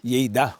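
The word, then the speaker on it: Lleida: So spelling niya L E D. Pero ang pagbigkas Yida parang ganon.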